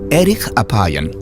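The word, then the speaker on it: ארך אפיים: hace mucho más interesante en hebreo la frase lento para la ira se pronuncia Eric Apan literalmente de larga nariz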